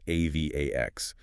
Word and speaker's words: AVAX: Remember that's AV AX, pronounced Avax.